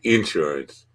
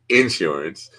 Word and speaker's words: insurance: I I'm smiling because you said Insurance like like somebody from appalache would say Insurance uh what should I said in well you should you should say it like you say it you should say it exactly how you're comfortable saying it in New York we call it insurance insurance the the uh emphasis was on the shore well you